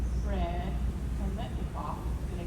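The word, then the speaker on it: Biletnikoff: And let me not butcher this name, Fred Kermetnikoff.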